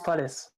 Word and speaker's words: Pledis: Yeah, and it's Pledis.